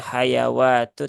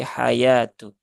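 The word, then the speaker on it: الْحَيَاةُ: ini juga sama ya Ee waauya tidak dibaca ya wwya tidak dibaca jadi ini ee dianggap tidak ada begitu eah Maka langsung saja wamal hayatu bukan hayawatu tetapi hayatu Terus kenapa di situ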